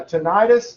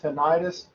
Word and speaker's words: tinnitus: auditory cortex uh tinnitus this is a word that i have pronounced tinnitus uh forever uh but recently i've heard people starting to pronounce it tinnitus uh i'm going to continue to say tinnitus uh this is the